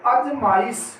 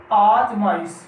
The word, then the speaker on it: आजमाइश: आगे देखिए अजमाइश, क्या है ये? अजमाइश ये गलत है और इसके स्थान पर सही हो जाएगा आजमाइश।